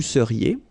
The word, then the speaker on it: seriez: So here when you've got this Z at the end, then you get the sound et seriez. So vous seriez, okay?